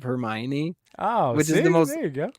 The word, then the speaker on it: Hermione: a Harry Potter and they thought it was Heron instead of Hermione oh which is the